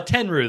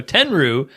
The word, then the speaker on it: Tenryu: Uh Tenrew, though, that that much I know that's how you pronounce his last name. So, we're just going to call him Tenrew. So, Tenrew is a former sumo wrestler.